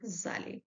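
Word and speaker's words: allée: Je suis allé. The pronunciation is same, but we need to put extra E.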